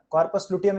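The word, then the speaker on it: corpus luteum: कार्पस लुटियम नहीं होता है, कॉर्पस लुटियम होता है बेटा, कॉर्पस लुटियम, कॉर्पस लुटियम, कॉर्पस लुटियम, कॉर्पस लुटियम ऐसे डालो.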